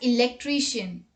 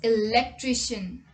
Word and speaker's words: electrician: Most of the people pronounce it as electrician. But it's not electrician, it's electrician.